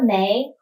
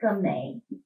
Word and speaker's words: 莓: Okay, so look at this strawberry, Because the 莓 of strawberries and the 没 (no) They sound the same, so it's very popular